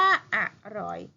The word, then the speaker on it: อร่อย: รอ อย อร่อย มั้ย เอก อร่อย อ่าน ว่า อร่อย อัน นี้ คดี เด็ด ผิด กัน มาก เลย